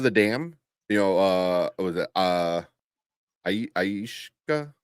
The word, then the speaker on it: Akasha: Aishka. How you pronounce her name? Akasha. Akasha.